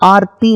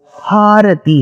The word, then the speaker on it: हारती: गलत, क्योंकि आरती का मतलब होता है संस्कृत में कष्ट, डिस्ट्रेस. तो गंगा जी की आरती उतारते हैं, वो आरती नहीं है, वो हारती है. हाँ, जो अक्षर है उसका उच्चारण करके आप बोल सकते हैं हारती. So that is हारती. Ganga ji की हारती हो रही है, रंगनाथ जी का हारती. सो इट्स हारती.